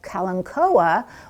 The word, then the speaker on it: kalanchoe: and said that i i pronounced this kalanchoe because in in our neck of the woods that's how we pronounce them and if i had said kalancoa which is also how it can be pronounced people wouldn't have known